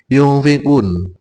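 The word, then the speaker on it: يُنْفِقُونَ: Hudal lil muttaqin alladzina yu'minuna bil ghaibi wa yuqimuna sholata wa mimma razaqnahum yunfiqun. Ini ikhfa, membacanya pakai ng.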